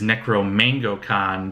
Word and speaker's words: Necro Mango Con: I mispronounced it in the live video. It is Necro Mango Con, their mango black pepper mead.